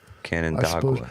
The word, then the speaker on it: Canandaigua: Canandaigua, New York. Did I say it right? Canandaigua. Canandaigua. Canandaigua.